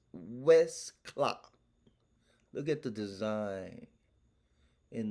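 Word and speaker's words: Westclox: old clock made by west clock westcott west clock is spelled w e s t c l o x west clock look at the design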